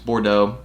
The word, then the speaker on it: Bordeaux: that colorway is really good i mean it's bordeaux there you go look at me saying it